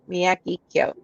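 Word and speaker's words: Miyagikyo: they have um so if you're not sure how to say this whiskey just remember mr miyagi um and then kip so miyagi kyo okay so you should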